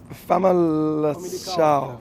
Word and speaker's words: Famalicão: I think you're going to have to be careful with the pronunciation. Can you remember it? It's Famalicão.